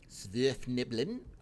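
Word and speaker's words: Svirfneblin: Yeah, so this is definitely Svirfniblin, I think is how you probably pronounce it, or Deep Gnomes, because they call their leaders Barrow Wardens.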